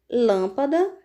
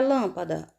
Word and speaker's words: lâmpada: Como exemplos, vamos ver as palavras lâmpada, sílaba mais forte da palavra lâmpada, lã. Então, última, penúltima, antepenúltima. Toda proparoxítona é acentuada. Como o som é fechado, vou colocar acento circunflexo.